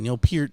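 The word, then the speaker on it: Neil Peart: that was uh our peer is how you pronounce his name neil peter from rush he was a big influence and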